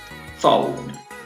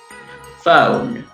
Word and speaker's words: phone: Primero la vamos a decir con la pronunciación norteamericana: phone, go, bone, only. ¿Sí? Pronunciación británica: phone, go, bone, only.